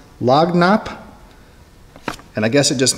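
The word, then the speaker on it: lagniappe: had to look this word up apparently it's pronounced log Knapp and I guess it just means like a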